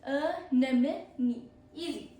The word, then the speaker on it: anemone: Protobus, 5 syllables end in E. E. Anemone. Anemone. Easy.